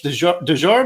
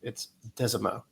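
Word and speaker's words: Desormeaux: understanding and knowing I don't know how to pronounce his name. But Tibs, he he says, "Coach Dejour," or I don't I forget how you say say it.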